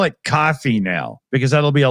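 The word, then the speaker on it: Ko-fi: It turns out that they actually meant it to be pronounced coffee. They're literally just playing on buy me a coffee, right?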